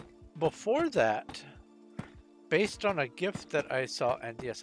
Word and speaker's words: GIF: really good um before that based on a gift that I saw and yes I pronounce it gif because I'm not a monster